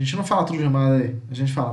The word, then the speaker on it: madre: Tem duas sílabas, ó. Madre. A gente não fala tudo de madre, a gente fala madre.